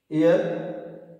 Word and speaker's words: heir: Yes students, the pronunciation, here H is written here, that is consonant, but the pronunciation is air.